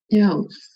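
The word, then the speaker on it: 钥: Jadi misalnya kunci ya, kunci berarti yao-nya itu adalah nada keempat. Yao.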